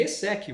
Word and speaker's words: ESSEC: Como é que é a pronúncia correta, inclusive? ESSEC, você já tinha pronunciado perfeitamente.